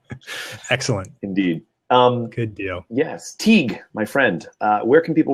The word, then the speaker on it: Teague: So Teague is Teague, like league, but with a T, and is spelled like the college or like the university.